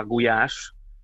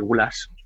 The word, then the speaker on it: gulyás: También se habla de la famosísima sopa gulyás, ¿no? Que en España se suele pronunciar gulas, sí, que no son las gulas del norte.